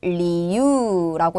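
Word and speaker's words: 理由: 이유라고 하면은 리유라고 해서 길게 읽어야 되는 거죠.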